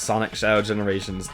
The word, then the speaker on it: Sonic X Shadow Generations: By the way, y'all, the X is never pronounced if it's in the middle of a game or anything. You never pronounce it. The Cros is just there as a fancy spacer. So, like, if you ever seen Spy X Family, it's Spy Family. Hunter X Hunter, it's Hunter Hunter. Sonic X Shadow Generations, it's Sonic Shadow Generations.